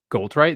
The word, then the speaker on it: Goldthwait: Goldthwait, is that how you say it? Thwait, yeah, Goldthwait.